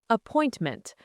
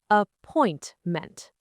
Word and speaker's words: appointment: Appointment. The stress is on the second part. Appointment.